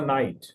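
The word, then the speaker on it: knight: तो नाइट कहते हैं जंगजू को। ही वास अ नाइट के एन आई जी एच टी नाइट। इसका मतलब है के इसका साइलेंट है लेकिन नाइट इसको पढ़ा जाता है।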